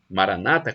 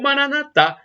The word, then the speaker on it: Maranata: todo-poderoso ele proverá e Maranata como dizem os protestantes evangélicos Maranata com a tônica na penúltima sílaba ou Manata como dizem os católicos com a tônica na última sílaba não importa somos todos irmãos protestantes